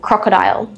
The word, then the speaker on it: crocodile: Let's have a look at this example, crocodile. Three syllables. Crocodile. First vowel sound here, cro, o, short o sound, o. K-dial. This is a diphthong, so it's still a vowel sound, isle, isle. Crocodile.